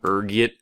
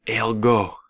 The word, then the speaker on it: ergot: There's a few different ways you can pronounce it depending on your social standing, ranging from ergot to elgo. Being the disheveled pauper I am, I prefer ergot.